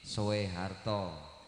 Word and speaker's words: Soeharto: Tapi itu ejaan lama sama seperti Soe Harto tapi dibacanya Soeharto.